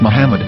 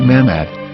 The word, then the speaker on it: Muhammad: say Hebrew English dictionary it is correctly pronounced as Muhammad not mammad so how we're going